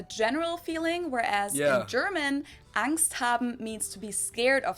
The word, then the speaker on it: Angst: not 100 the same angst capitalized in German and with the German ah basically just means fear